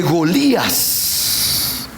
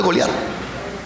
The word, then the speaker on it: Golías: Y añade: y leer la historia de Golías, no de Goliat, de Golías, que es la forma hebrea de pronunciar el nombre.